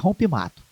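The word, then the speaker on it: Rompe Mato: E mas o a a a pronúncia correta é rompem mato.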